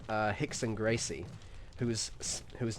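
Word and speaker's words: Rickson: but no it's vanderlay like the W is pronounced as a v so vandelay silver or then you have someone like uh hickon Gracie who whose name is not spouted with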